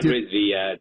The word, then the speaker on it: Rizvi: John Rizvi, the patent professor. got it down. I'm paranoid about mispronouncing people's names, so I'm glad I did yours right.